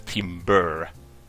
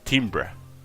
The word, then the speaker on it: timbre: pronounce that work okay so it is just like timber but you don't pronounce it as timber it's timbra you cannot drop what's